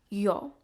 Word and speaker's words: yo: is pronounced o y make sure that that o that vowel is very short and sweet here's an example I